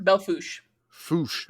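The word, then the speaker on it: Belle Fourche: uh it just says Bell uh forch River Belo fos okay I was I was I was going to go with the Louisiana pronunciation uh no there's there's a soup Dakota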